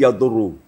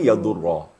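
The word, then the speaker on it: يَضُرَّ: Di sini sering kita dengar anak-anak yang pemula bukan yadurrah dibacanya tapi yadurru. Nah, yang betulkan yadurrah. Oh, karena pengaruh dad ro dan lafaz jalalah.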